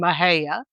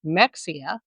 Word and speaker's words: Mexia: and cities in Texas, including Mahaya, not Mexia, Bernett, not Bernett, and Palestine, not Palestine.